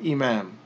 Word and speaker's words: imam: And as we mentioned previously, if 2 dhammas comes at the end of a word, then we generally won't pronounce it if it's the end of a word or a phrase. So we would just say this is imam.